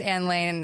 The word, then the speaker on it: Anne Lane: It says Ann Lane and then a little asterisk, say it like a Muppet.